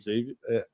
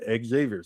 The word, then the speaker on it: Xavier: He's he's doing what I I think he's supposed to be doing at Xavier. Sorry, I said it wrong, Matt. I say it wrong every There's no X. Just Yeah.